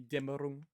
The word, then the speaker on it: Dämmerung: Dämmerung, as they probably just pronounce it here. But there's an umlaut there, so it'd be Dämmerung.